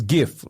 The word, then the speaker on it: GIF: now widely pronounced as GIF like me and you like we yeah so now we're Googling I'm not zling or playing jof I'm gol and Googling yeah so with a hard G like gift GI so um the